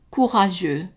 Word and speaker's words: courageux: Mon mari était très courageux. Mon mari était, and we don't pronounce the T at the end, très courageux. We're not pronouncing the X either.